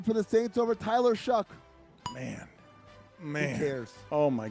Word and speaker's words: Shough: He spells it Shough, but I have to Google how you say it. You say it Shuck. I was like, is it Shuff or Show? And they're like, Shuck.